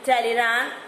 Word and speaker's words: Talleyrand: Okay, so in the French, how these words were being pronounced, I am just pronouncing like that.